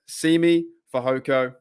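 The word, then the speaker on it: Simi Fehoko: might be signing uh semi for hoco let me pronounce it correctly semi uh how do I pronounce it it is yes Simi for hoko from the Dallas Cowboys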